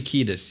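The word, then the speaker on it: Kiedis: algum lugar errado mas ela fala exatamente Anthony kidas Então pronuncia tá correta então não tô espalhando informação errada no jeito de pronunciar o nome dele mas é vale a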